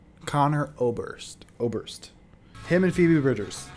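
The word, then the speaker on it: Conor Oberst: Better Oblivion Community Center by Connor Oberhurst. Is that how you say his name? Connor Oberhurst? Connor Oberst? Connor Oberst.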